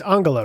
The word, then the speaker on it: Angela: Is that in 2012, Angela Merkel, or is it, it's not Angela, it's Angela, right? Yeah, I think you said it right.